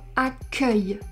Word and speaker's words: accueil: But there is also the word "accueil" where we have an open E because it is the last syllable of the word.